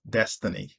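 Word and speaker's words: D'Hstiny: name it's spelt d apostrophe h-s-t-i-n-y and i pronounce that as destiny the second is m-i-d-e i pronounce that as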